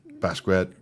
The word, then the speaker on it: Basquiat: go back and buy a bunch of Jean-Michel Basquiat paintings. But how do you pronounce it?